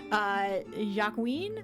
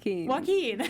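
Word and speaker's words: Joaquín: to highlight El Chapo ja Queen I believe is how you pronounce his name Joaquin so he was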